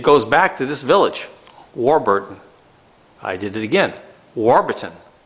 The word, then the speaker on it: Warburton: the village of Warburton so it's pronounced Warburton and this is quite